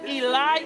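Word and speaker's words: אלי: let's go back here he says eli eli why doesn't he say what he just said no it's not you don't have an e sound in your fake language do you have an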